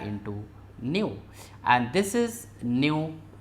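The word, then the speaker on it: ν: equal to Lambda into Nu and this is new pronounced as this new and symbol for frequency so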